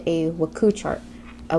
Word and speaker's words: WKU: the right answer we have something called a waku chart a waku chart has w k u and it's pronounced wahku in the waku chart we have